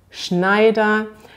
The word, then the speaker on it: Schneider: ein bisschen schwierig auszusprechen denn man hat dieses sch eigentlich ist es nicht so schwierig man kann sich merken sch ist immer also ein weiches und das was danach kommt dass wir mit gesprochen nämlich schnell also man sagt zum beispiel schmidt schneider und bei dem schneider